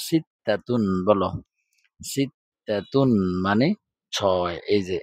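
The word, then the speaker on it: ستة: ছয় তো বাংলাতেই কিন্তু আরবিতে এটার উচ্চারণ হচ্ছে সিতাতুন।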